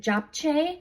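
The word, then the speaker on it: 잡채: Okay, and then another frozen item that's vegan at Trader Joe's is this, I think you pronounce it Japchae, which is a Korean sweet potato glass noodles and vegetable stir fry.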